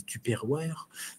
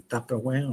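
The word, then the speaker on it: Tupperware: le bac à légumes et cetera comme je disais le mettre dans des alors je vais le prononcer à la française des tuperware mais en fait des taperware en anglais enfin des boîtes en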